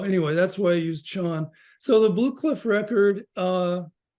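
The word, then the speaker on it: 禪: Zen so Zen and Zen is just the Japanese pronunciation of Chan so I always use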